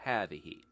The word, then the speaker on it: هذه: هذا looks like هذا, but it's هذا, and هذه looks like it has ta marbuta almost, but it doesn't. It's هذه.